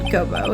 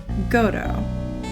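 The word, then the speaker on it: Godot: It's not Gobo, it's Godo, Your Honor.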